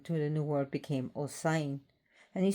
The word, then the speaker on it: Osain: Osin is pronounced osen. Um but then to the new world became osen and he spelled different things.